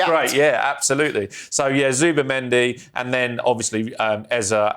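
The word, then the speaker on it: Zubimendi: of mispronouncing names but he called him Super Mendy which I think he should just accept. That's great. Yeah absolutely. So yeah, Zuba Mendy and then obviously um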